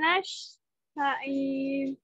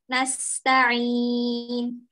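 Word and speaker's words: نستعين: Nasta'in. Coba. Iyyaka na'budu wa iyyaka nasta'in. Nasta'in. Senyum ya. Wa iyyaka nasta'in. Wa iyyaka nasta'in. Sip, alhamdulillah. Nah, hati-hati. Ain sukunnya nggak mantul, kemudian sinnya diluruskan. Dia ringan pelafalannya.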